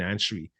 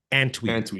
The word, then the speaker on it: Antwi: And like I said, they got to sign Anshui. I always say that name wrong. Jeshrun Antwi in Montreal, that running back.